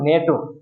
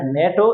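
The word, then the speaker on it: NATO: এস সি আমরা কিন্তু প্রত্যেকটা অক্ষর আলাদা আলাদা উচ্চারণ করেছি সুতরাং এটা হবে একটা এব্রিভিয়েশন এবার পরের যেটা রয়েছে সেটা খেয়াল করো নেটো আমি কিন্তু এটা পড়ি নাই এন এ টি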